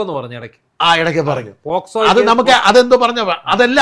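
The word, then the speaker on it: POCSO: പോസ്കോ എന്ന് പറഞ്ഞു ഇടയ്ക്ക് ഇടയ്ക്ക് പറഞ്ഞു. പോക്സോ അത് നമുക്ക് അതെന്തോ പറഞ്ഞ അതല്ല അപ്പൊ തന്നെ ഇതല്ല ഇംഗ്ലീഷ് വാക്കുകളുണ്ട്.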